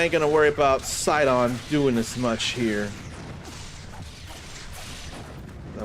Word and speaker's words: Sidon: Sidon. Not Sidon. Sidon. I keep pronouncing it all wrong too much.